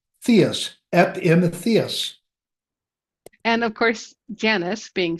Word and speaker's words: Epimetheus: to give you some extra props on your pronunciation because I'm having a little more trouble with this one. I practiced it earlier. Epimetheus.